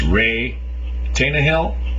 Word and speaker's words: Reay Tannahill: book sex in history and I believe the pronunciation of the author's name is Ray tanah Hill I had said before I think this writer